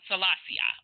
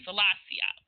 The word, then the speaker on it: Selassie: So the founder of Rastafarian, or who they model themselves after, is how do you pronounce his name? Haile Selassie? Okay. Selassie. Okay, Selassie.